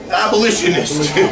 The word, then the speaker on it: abolitionist: Abolitionist. Put the emphasis on the other syllable.